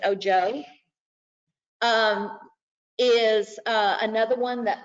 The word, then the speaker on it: Ojo: ojo o j o o ho like spanish for i uh but they pronounce it oh joe um is another one